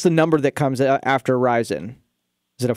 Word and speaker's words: Ryzen: It has a Ryzen 5-core processor. I never heard of Ryzen. That's the way you pronounce that.